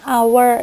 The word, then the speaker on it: hour: Walaupun di contoh ketiga, an hour ini dia huruf depannya H, tapi suara yang dikeluarkan itu adalah suara vokal E.